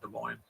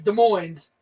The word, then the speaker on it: Des Moines: That the S is silent, Des Moines. I don't care. It's Des Moines.